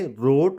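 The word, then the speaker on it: wrote: जैसे WRONG, इट्स रॉन्ग, WRITE, right, WRAP, रैप, और इसको आप खुद ही पढ़ लेंगे, रोट, very good, and this is wrinkle and this is wrapper.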